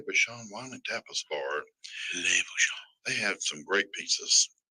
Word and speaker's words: Bouchon: French is funny. They put ends at the end of the word and then almost pronounce it. Yeah. Le Bouchon. Yeah. Almost pert near.